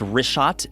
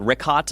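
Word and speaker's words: Richat: first couple I just want to say it's R shot I used to call it rick hot I was mispronouncing it but let me ask you this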